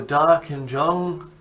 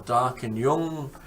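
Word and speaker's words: Darkinjung: live it is the dark and Jung or dark and young depending on whether you pronounce the J as a j or a y and Mackie is usually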